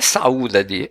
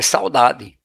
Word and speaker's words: saudade: Alternativa B não é saúdade, não é saúdade, é saudade.